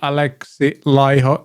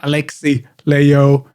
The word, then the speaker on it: Alexi Laiho: sun for four weeks esp announces the new alexi lyho that's how you pronounce it it's not alexi leo it's alex learn to pronounce as thins do